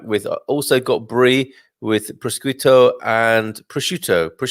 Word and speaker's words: prosciutto: We've also got Jenki Enki coming back with, also got Brie with prosciutto and prosciutto. How do you say that? Prosciutto.